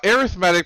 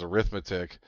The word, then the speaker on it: arithmetic: out the examples so arithmetic progressions and that's the way they pronounce it I don't never knew why I mean it's dealt the same way as arithmetic but for some reason